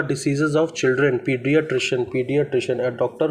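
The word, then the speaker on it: paediatrician: paid टशन इसको देख लेते हैं इसका जो स्पेलिंग है पी ए ई डी आई ए टी आर आई सी आई ए एन पीडियाट्र पीडियाट्र पीडियाट्र पीडियाट्र पीडियाट्र बोलेंगे पडि पीडियाट्र पीडियाट्र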